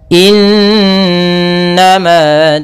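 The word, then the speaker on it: إنما: Ya, semoga innama tu'aduna lawaqi'. Pada bacaan innama di sini ada nun berharokat tasydid diwarnai dengan warna hijau, ini bacaan gunnah. Cara membacanya, suara n-nya ditahan 2 harokat. Innama, nah, baru dilepas.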